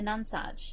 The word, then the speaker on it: Nonsuch: of orientation, like the Nonsuch. Yeah. If that's how you say it. Is it none-such or non-such? Is it? I think it's non. I did check this. Non-such.